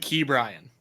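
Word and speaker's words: Ke'Bryan Hayes: actually I've noticed that you say key Brian Hayes am I Mis ke yeah he he pronounces it key Brian so everybody calls him key around uh around Pittsburgh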